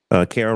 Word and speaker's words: Karen: Karen rhymes with Sarah.